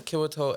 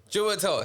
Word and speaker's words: Chiwetel: Kiwato Ejiofor. Chiwetel.